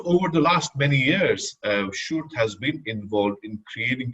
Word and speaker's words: Sjoerd: It's called Sjoerd. Maybe this helps sometimes. It helps people. So this is not how you write it, but this is how you pronounce it.